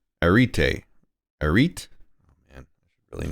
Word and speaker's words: arete: Areti. Arete? Right? I guess so. The Greek pronunciation?